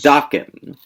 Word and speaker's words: Dokken: It's Dokken. I prefer the Dokken. The mispronunciation? Sure. Yeah. Even though they're American. They're Dokken. Dokken.